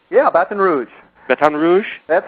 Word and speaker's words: Baton Rouge: Did I pronounce that right? Yeah, Baton Rouge.